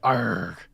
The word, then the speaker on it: ARRG: The proper way to pronounce it is in pirate speak. Okay, great. So you run a newly formed entity called ARRG.